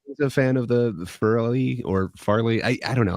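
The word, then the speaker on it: Farrelly: It's fairly. it's Fairly actually Brothers.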